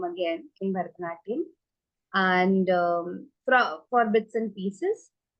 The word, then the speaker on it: Bharatanatyam: So you mentioned about learning Bharatanatyam. Firstly, it is pronounced as Bharatanatyam and not Bharatnatyam, right?